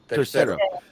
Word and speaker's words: Tercero: Well, he didn't say the third. He said it's gonna be like Dr. Wagner with 3, like I when you spell it out. But what is it? Tercero. When you say Tercero. So he said Dr. Wagner Tercero.